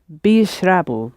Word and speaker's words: بيشربوا: Pronounce the ye. Bishrabu.